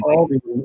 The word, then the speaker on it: Aldi: Oh, And it's Aldi. The S is silent, so it's not Aldi's, it's Aldi. Okay.